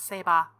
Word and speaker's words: Saber: It's how you pronounce it, people. It's Saber.